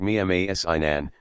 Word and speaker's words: Mimar Sinan: with circumflex, Ottoman Turkish, Modern Turkish, Mimar Sinan, pronounced Mimar Sinan, Sinan the architect, c.